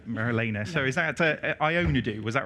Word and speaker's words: Ioannidou: I've been worried about getting your name wrong, Marilena. So is that Ioannidou? Was that right? Ioannidou.